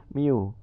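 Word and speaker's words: μ: tapi untuk pada disini dia sudah besaran kita bacanya Miu ini Blues kalian ini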